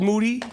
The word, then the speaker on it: Moody: this is uh moody yeah his last name rhymes with duty that's true uh my